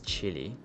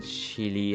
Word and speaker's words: Chile: and they feel weird I'm saying Chile but I don't know because when I first learned this country I'm searching on a dictionary and I just go to Cambridge Dictionary and then find the pronunciation in like the UK pronunciation because I'm living in the UK and then they that chil so I follow that but sometime I'm thinking like we that Chilean pole so we not saying chili and F so I